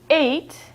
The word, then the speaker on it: ate: Eight is the past verb of eat, and it is spelt A T E, but it's pronounced exactly the same as the number in English eight, which is spelt like this.